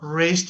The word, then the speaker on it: wrist: So wrist is the correct one.